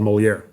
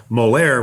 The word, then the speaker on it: Moleaer: And thank you for explaining that, because the way that you pronounce it sounds very French, but it's not spelt in a French way at all.